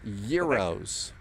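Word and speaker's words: gyros: Firstian 01 contact Polaris 121 decimal 51 straight from the uh waiter it's pronounced euros 271 we now know says it if you're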